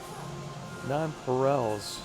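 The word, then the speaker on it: nonpareils: Nonparels is how it's pronounced.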